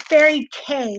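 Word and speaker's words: fairy kei: It's Fairy K. That's how it's pronounced. Fairy K. But it's spelled K-E-I.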